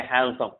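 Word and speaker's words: handsome: और यहाँ पर जो है हमने देखा कि एन के बाद अगर डी होगा तो भी डी साइलेंट होगा, या डी के बाद एन होगा तो भी इस सेंस में डी साइलेंट होता है, ठीक है।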